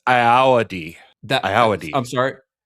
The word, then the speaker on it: Ayoade: So, he approached Richard I um Ayoade?